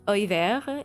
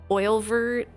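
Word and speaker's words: Oeilvert: It's a location that is, for some reason, a lot of people pronounce it in all kinds of ways. Oilvert, Olivert, and then when I look to the Japanese and it's Oiveru, I'm like, yep, I'm right. I'm right.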